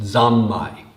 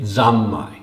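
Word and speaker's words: 三昧: in in japan today samadhi in japanese is pronounced zammai samadi that's a sanskrit in japanese they've made it zamai that's as close as they can come and they have what's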